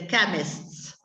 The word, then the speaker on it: chemist: English it's called the chemists. Chemist. Yeah, even the pronunciation is strange because it's instead of the usual ch is k.